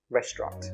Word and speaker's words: restaurant: Just remember, this word is pronounced restaurant.